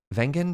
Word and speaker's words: Wengen: were trying to find places to eat in wengen did I pronounce it right yes um are you gonna